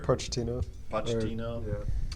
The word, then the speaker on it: Pochettino: Pochettino. Yeah. Why was there a falling out with him in the first place? And then how is Mourinho going to overcome, whatever Pochettino couldn't deliver?